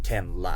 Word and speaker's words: Tenra: L A so yeah you guys can call me ten la which is the LA not ra you know someone called